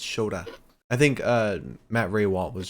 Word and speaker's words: Shota: So let's get into Jay White versus Shota Umino, which they kept pronouncing his name as Shoto. It's Shota.